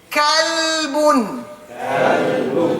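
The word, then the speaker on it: كلب: There we have next, kalbun. With a kaf. A kalbun is a dog. Right? Qalbun, a heart. Kalbun, a dog.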